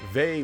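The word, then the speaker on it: Vay: to the games I already did that too V was the next game on the Sega CD in 1994 or VI as the game pronounces it this is an RPG originally developed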